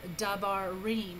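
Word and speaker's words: דברים: Those are big old fancy words, and you can see here as in dabarim, and this is the pluralization for word. This is words. So you've got your da, which is propretonic, your ba, which is pretonic, and reem, which is your tonic.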